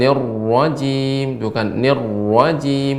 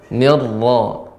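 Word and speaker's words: الرجيم: Ya, tapi untuk pengucapan ra jangan sampai monjong Pak ya. Bukan nirrajim, akan tapi dengan dibuka. Nirra. Ya, nirra. Jadi yang tebal itu bagian dalamnya. Dia ra yang ditafkhimkan, bukan dibantu dengan mulut kita.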